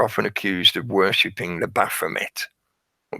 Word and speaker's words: Baphomet: The Templars are often accused of worshipping the Baphomet, or Baphomet, however you choose to pronounce it, because it's a French root word. So sometimes the T isn't pronounced, but they were accused of that.